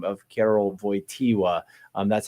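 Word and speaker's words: Wojtyła: as Caleb says that VOA is spelled with a W because it is a Polish name um it is as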